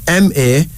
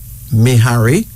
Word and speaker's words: Mahari: M-A-H-A-R-I. Mahari or Mehari.